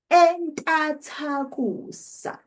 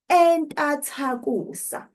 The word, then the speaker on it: entathakusa: Entathakusa. Did you hear that difference? Entathakusa. We change the prefix from I to E. So we're no longer saying intathakusa, which is the noun, ibizo.